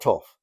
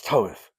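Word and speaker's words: Thoth: He said, "It's not Toff, it's Toeth."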